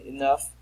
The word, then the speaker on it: enough: And enough rhymes with cuff.